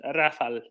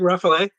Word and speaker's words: Rafale: on it okay okay first of all Rafal two two syllables just Rafal easy um do I keep saying roughly yes oh sorry that's